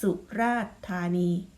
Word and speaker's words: สุราษฎร์ธานี: เสียง ออก เสียง แค่ สุราษฎร์ธานี เท่า นั้น นะ คะ อัน นี้ คือ กรณี ที่ ตัว การันต์ อยู่ บน พยัญชนะ 2 ตัว ที่ ไม่ ออก เสียง นะ คะ อ้า ต่อ